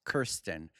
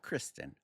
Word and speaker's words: Kirstin: Yes, Kirstin, not Kristen. Kirstin Maldonado. So, definitely Latina. Maldonado. So, Kirstin Maldonado. And it's actually Kirstin, not Kirsten because in Spanish we don't pronounce we don't pronounce the I like a U.